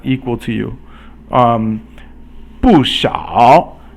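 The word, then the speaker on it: 不少: 不少 means not many, so fourth tone and then third tone.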